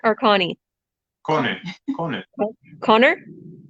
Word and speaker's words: Conny: Is it Connor or Connie? Conny. Conny. Connor? Like Sony, but Conny.